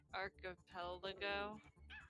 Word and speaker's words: archipelago: I mean, I want to say like arch or put emphasis on the wrong part of the word, like Palego or yeah.